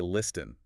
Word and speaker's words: listen: But we don't say listen. Exactly. The letter T is completely silent. It's much softer.